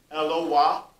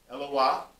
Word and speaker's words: Eloah: it's most correctly pronounced, it's not pronounced El, it's pronounced Eloah, Eloah. It's shortened to El.